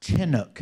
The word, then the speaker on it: Chinook: Well, it's the nature of, fun fact, it's pronounced Chinook, not Shin. It's Chin, not Shin.